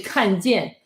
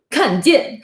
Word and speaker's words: 看见: Every time he say 看见, like means look or stuff, he looks really mean. 看见. Yeah, because it's 4/4, like the down tone.